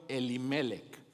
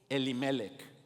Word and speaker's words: Elimelec: hombre se llamaba elimelec Ahora cuando lo leas eh Ponle un acento en la penúltima e vamos a decirlo elimelec crees que lo podemos decir así elimelec okay ahorita te voy